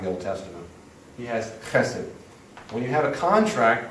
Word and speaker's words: chesed: it's all over the Old Testament, and it's pronounced chesed.